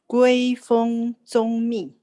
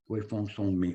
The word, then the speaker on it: Guifeng Zongmi: His name was Guifeng Zongmi. Anybody in Chinese? Can you correct my Chinese? Guifeng Zongmi. Guifeng Zongmi. That's what I said. Thank you. Thank you. Say it again. Guifeng Zongmi. Guifeng Zongmi.